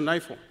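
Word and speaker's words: νήφω: tienen que ser sobrios en el griego se pronuncia naifo y está hablando de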